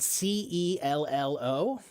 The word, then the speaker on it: cello: And it's spelled C E L L O. But it's pronounced cello because that's an Italian word. And in Italian, the C is often pronounced as a soft ch sound.